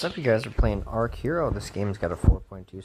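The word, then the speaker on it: Archero: Not Arch Hero. I think I said it Ark. It's pronounced Ark Hero as opposed to Arch Hero.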